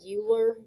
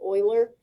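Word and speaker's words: Euler: I know that looks like uler but um it's pronounced Oiler.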